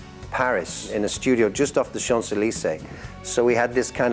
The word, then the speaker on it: Champs-Élysées: So we had a girl in who was a French person who was saying I was doing it like Champs-Élysées, and she said, no, it's Champs-Élysées.